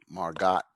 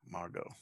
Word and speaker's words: Margot: i i'm with you margot silent t margot okay all right how